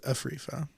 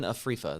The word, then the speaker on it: Afrifa: What do we have with Afrifa? And did I say that correctly? I meant to ask Thad that. I thought you might have some information on that. Stephen Afrifa. That you said it right for sure.